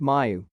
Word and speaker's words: Mu: experts first spotted this covid19 variant pronounced mayu in colombia in january